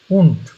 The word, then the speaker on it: und: উ উ und উন্ট, Frau টয়ের মতন। এই data শেষে থাকলে টয়ের মতন উচ্চারণ হয়, উন্ট।